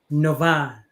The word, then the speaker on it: Novah: uh, and her name is Tina Novah. Is that how to pronounce Novah?